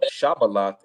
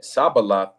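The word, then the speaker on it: Shibboleth: If he said, nay, then they said unto him, say now Shabaloth, and he said Sabaloth, for he could not frame to pronounce it right.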